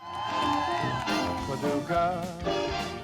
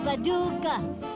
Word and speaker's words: Paducah: Paducah, Paducah. If you wanna, you can rhyme it with bazooka, but you can't poo-poo Paducah.